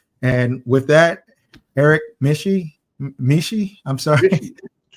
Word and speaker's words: Mische: say your last name Eric mishy so it Rhymes oh mishy okay with Squishy and fishy and isy and any of the isys so okay and so